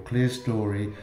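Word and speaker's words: clerestory: the 14th century and the clester or clear story above is from the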